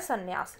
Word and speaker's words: संन्यास: है सन्यास ठीक है संन्यास के अंदर स्पेलिंग में एम आता है जो की साइलेंट होता है ये आप लिखते समय याद रखेंगे की संन्यास की spelling S ए एम एन ए ए एस ए होती है ठीक है ना ब्रह्मचर्य